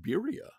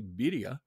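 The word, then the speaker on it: birria: adventurousness uh for example bira or to pronounce it correctly Bia which is a spicy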